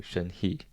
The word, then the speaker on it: Shen-He: Shen-He, some people mispronounce it and say Shen-He. I feel like a lot of Americans call you Shen-He. But it's Shen-He, and you always correct them.